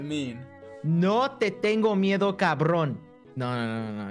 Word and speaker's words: cabrón: Cabrón. What does it mean? No te tengo miedo, cabrón. No. You're saying it wrong. Cabrón.